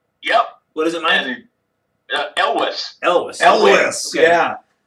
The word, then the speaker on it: Elwes: The only reason I know how to pronounce his name right is because they had on Family Guy one time, they had Peter Griffin calling him up. Like, hey, is this Cary Elwes?